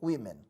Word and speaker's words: women: Muda a pronúncia. Woman fica no plural women.